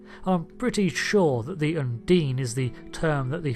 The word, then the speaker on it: Undine: quick video to clarify some things yes it's pronounced Undine it's just a habit I'm going to have